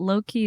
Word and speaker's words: Loqi: Keep It Low Key, but Low Key is spelled Loqi.